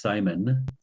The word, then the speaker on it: Simon: So I am Simon in a French pronunciation, Simo.